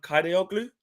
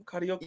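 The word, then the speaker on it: Kadıoğlu: United want Kadioglu, I call him Kadioglu. Yeah, I think that's pretty close. I say that. Kadioglu.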